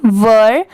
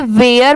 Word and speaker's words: were: ये first paragraph है, देयर, THERE, देयर, WERE, वर। बहुत सारे लोग इसे वेयर पढ़ते हैं, बट वो रॉन्ग होता है। इसकी प्रोनाउंसिएशन है वर, ठीक है, WERE, वर।